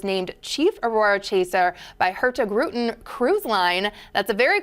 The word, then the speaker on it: Hurtigruten: The Norwegians like to spit this name out like it's one syllable, so they say Hurtigruten. Oh, Lord. You have to be really fast.